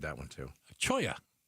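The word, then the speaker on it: Cholla: Choya. Yeah, it's not Chola or Cholo, which is C H O L O.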